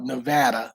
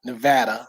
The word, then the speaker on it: Nevada: uh let me say let me pronounce it right because I'm a local now we are in Henderson Nevada um not n Nevada Nevada Nevada I think is how it's pronounced so I have to sound like a local so I'm still working on that but uh we love